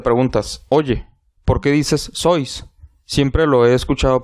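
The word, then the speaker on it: Seuss: obras más importantes primero por su origen alemán su apellido pues se pronuncia sois pero al ser de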